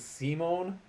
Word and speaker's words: Simon: don't know why but they're pronounced differently rather than Simon and Richter I believe it is Simone and rishta Rista yeah so there you